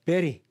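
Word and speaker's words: bury: 지낸다 이거 메리 베리 발음 조심하셔야 됩니다 베리 베리입니다 베리 베리 묻다 매장하다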